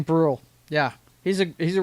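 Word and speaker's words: Brühl: Is it Brule? Is it Brol? Is it Bruell Kruella? I don't know. You tell me what it is. Let's see. Bruh. It's Bruh.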